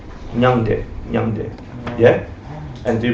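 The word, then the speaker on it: མྱང་འདས: It's 2 syllables. No, he was answering. Huh? I know it in Sanskrit. What's it sound like? Nyangde.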